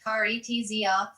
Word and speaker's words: carezza: She had invented called carezza, pronounced caretzia, from the Italian word for caress.